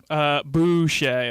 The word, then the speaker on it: Boucher: spray your last name Boucher I'll tell you spell it is actually just getting Bo you CH ER it's French hopefully everybody don't get it